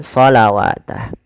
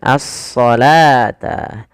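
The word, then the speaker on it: الصلاة: Jangan terkecoh dengan huruf wunnya. Ah, hati-hati. Kadang-kadang memang kita kalau tidak jeli dia akan terkecoh ya. Dia membacanya dengan shawatah. Padahal di sini adalah bentuk rosem saja dalam penulisannya, yaitu dia apa? Dia dibaca dengan asalata.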